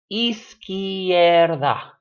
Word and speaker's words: izquierdo: to the last syllable izquierdo be scared ah so this word is only three syllables eise here that the eye and the a the e and the eight mushed together into one syllable so you just have